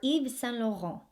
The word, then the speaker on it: Yves Saint Laurent: the end of the 1940s ysl stands for eve san loro eve san lorenzo or just san loro you